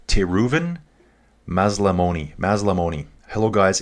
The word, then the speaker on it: Maslamoni: Okay, so this is Team Reuven Mazlamoy. Sorry, dude, I just butchered your name. Te Reuven, dude, can you give me phonetics on your name? Te Reuven Mazlamoni.